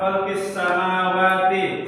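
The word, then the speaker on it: خلق السماوات: Cara bacanya gimana? Lam tidak dibaca.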